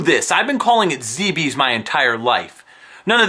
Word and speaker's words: Zebes: None of this Zebeth stuff or Zeebs. No. It's Zeebees. Freaking Zeebees. I've heard everything from Zeebs to Zeebees to Zebeth. Where is there a TH sound in that word?